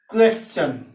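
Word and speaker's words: question: इसका भी उच्चारण च और इसका भी उच्चारण च। जैसे क्वेश्चन मीन्स प्रश्न, यहाँ क्या है, क्यू यू ई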